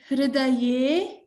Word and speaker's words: हृदये: सर्वं very good okay hridaye Again, this is a ha and a r, so pronounce it as hriday, not hru or hri.